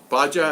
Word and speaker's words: Baja: Baja, that's how you say it, Baja.